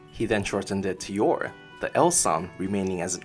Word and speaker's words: Yor: bubbles in dialogue he then shortened it to Yore the elsam remaining as an R sound in order to retain how it's pronounced in Japanese number 67 Frankie is based